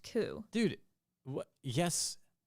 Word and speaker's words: Coup: c o u p oh so it's spelled coop but pronounced ku dude what yes how what i didn't know